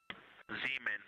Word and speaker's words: Zeeman: Zeeman. Okay, and can you say the first letter? I may be pronouncing that wrong.